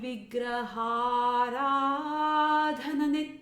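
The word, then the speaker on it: vigrahārādhana: So the word, the pronunciation is all three words need to come together and pronounced as one. So it's Shri Vigraharadhana Nityanana. Okay, so don't break up Vigra, Hara, and Dhana. And now this word is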